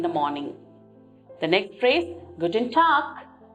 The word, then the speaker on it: Guten Tag: You can see the letter G at the end, but we do not take the G pronunciation, rather we take the K pronunciation.